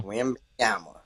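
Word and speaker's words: Wembanyama: Now Wimyama.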